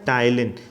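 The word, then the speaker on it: ptyalin: क्या बोला जाता है टाइलिन ना कि पी इसमें साइलेंट रहेगी इसको क्या बोला जाएगा टाइलिन व्हिच ब्रेक्स डाउन यह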